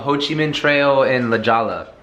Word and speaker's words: La Jolla: This place called Ho Chi Minh Trail in La Jolla. It's actually pronounced La Jolla.